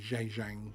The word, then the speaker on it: Zhejiang: over there in the Zhejiang province, I think is how you pronounce it. Yes, well said. That was very well pronounced.